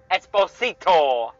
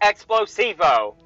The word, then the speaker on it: Esposito: And played by Giancarlo Esposito, not Explosivo, who you might know him as Gus Fring from Breaking Bad.